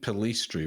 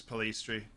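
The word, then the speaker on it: Pellistri: Actually, it is Palistri. In I Spanish, thought it was Perlas, yeah. like a yes sound. Yeah, so Or is that- yeah, every vowel in Spanish is pronounced the same way every time, and I is E, so Palistri.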